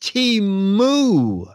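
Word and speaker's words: Temu: want to give you my two cents it's pronounced teu teu teu according to their website teu I've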